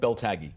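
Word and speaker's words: Beltagy: compromise and one other man named Muhammad Muhammad is it belag is that how you say it Bel tagi Bel tagi uh who was he and what's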